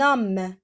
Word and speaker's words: homme: Regardez, un homme, j'ai pas prononcé le H.